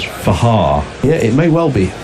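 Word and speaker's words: Fakhar: Zafar Minas has come in and said the correct pronunciation of Fakar's name is Fahar.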